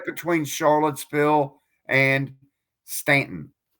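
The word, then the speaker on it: Staunton: I say Stuntton, not Stanton. But it's Stanton. It's Stanton. You don't pronounce it.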